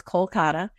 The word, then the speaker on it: Kolkata: in the city so there's a city called Kolkata sorry Kolkata in English the Indian way to pronounce is Kolkata Kolkata has multiple red